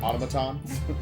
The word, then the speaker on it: automaton: How do you say that? Automaton. Automaton. I was actually It's like an automation.